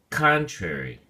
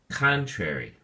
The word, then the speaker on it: contrary: look at the flashcard the word contrary has three syllables and the emphasis or stress is on the first syllable con so we say contrary contrary it is used mostly